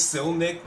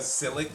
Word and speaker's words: Silnick: Like, I feel like it's Silnick mainly because Silic would imply that the N is silent, and I don't think the N is silent. Be an overly complicated name if it was.